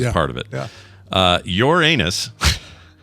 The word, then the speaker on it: Uranus: Uranus It's not pronounced that way. Uranus was as the proper scientists say.